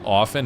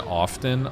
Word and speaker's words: often: I think often and often are both considered correct.